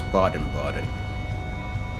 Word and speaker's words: Baden-Baden: it's pronounced Baden-Baden. Yeah, I think so. It's Baden-Baden.